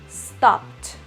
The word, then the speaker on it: stopped: Si pronuncio stop, ese último sonido es P, entonces esa ed en pasado se vuelve una T. Entonces yo digo stopped, stopped.